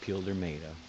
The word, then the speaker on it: Pildermado: but if you understand, it's spelled peel like a banana peel, and then der like der burger, and then mado like the end of tomato. Peeled tomato. Yep, the lost city of Pildermado.